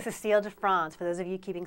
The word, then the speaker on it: Cécile de France: Christy, you're pronouncing that right? Cécile de France, for those of you keeping score at home.